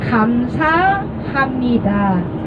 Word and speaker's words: 감사합니다: 자, the real pronounciation is 감사합니다. 자, once again 감사합니다.